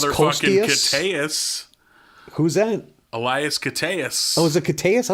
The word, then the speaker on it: Koteas: Elias Koteas. Oh, is it Koteas? I always thought it was Kostius.